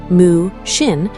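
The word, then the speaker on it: 無心: Mushin, pronounced moo-shin, written with the character for no or without, moo, and the character for heart-mind, shin.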